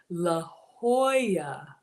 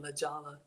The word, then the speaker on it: La Jolla: read this stuff y'all legala is pronounced La Jolla oh it's La Jolla okay in case no one helped you no because I've been saying lajalla yes we have barbecue